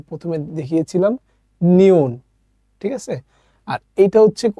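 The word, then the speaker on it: 니은: বর্ণ যেটার নাম আমি আপনাকে যে প্রথমে দেখিয়েছিলাম নিউন ঠিক আছে আর এইটা হচ্ছে এটাও কোরিয়ান একটা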